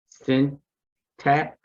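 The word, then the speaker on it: Cintas: uh a 4.5 yield and they do pay quarterly okay okay okay okay all right i'm gonna go with uh send tax it's uh it's spelled c-i-n-t-a-s and it's a company that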